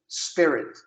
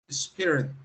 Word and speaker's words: spirit: Mas tira esse i. Onde está mudo, deixa mudo. Outra dica, deixa eu repetir. Onde está mudo, deixa mudo. Então, ó, repete comigo. Spirit. Spirit. Acabou. Onde está mudo, deixa mudo. Não taca mais esse i em lugar nenhum. Também é algo que, se